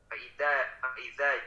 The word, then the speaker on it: فإذا: Faiza. Tadi bacanya zai, Pak. Faiza. Nah, coba tempelkan ujung lidahnya ke gigi seri atas.